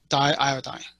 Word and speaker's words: diiodine: with it but if you learn chemistry it's pronounced as diiodine okay so this is kind of a test